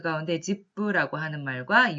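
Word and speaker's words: 実父: 집부라고 적혀져 있습니다. 한자로는 실부라고 쓰여져 있고 일본어로 읽었을 때는 집부라고 읽습니다만 이거는 실부, 다시 말해서 친아버지를 읽었습니다.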